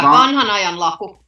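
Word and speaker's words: Wanhan ajan laku: Okay, You pronounce the W like a V though, so. Yeah, I Vanhan. mean it's like Vanhan because they used to write it that way.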